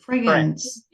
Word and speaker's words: friends: No, we say friends. Friends. No. Friends. You don't pronounce the I. You don't pronounce this letter.